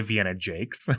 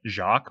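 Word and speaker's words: Vienna Jaques: I say Vienna Jakes, but I believe that Jacques or Jax is also acceptable.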